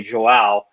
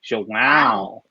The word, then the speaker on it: João: I personally like to do the pronunciation and just say Joao, but it's like Owen Wilson, where it's like Joao.